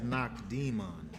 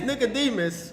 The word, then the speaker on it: Nicodemus: demon the demon uh what's the right pronunciation so I can say it right I just wanted to say it right that says knock demon knock demon knock knock demon I don't use this version It's Nicodemus see I I studied